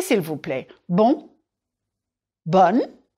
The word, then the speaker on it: bonne: Bon, bonne. Remember that bonne is more open.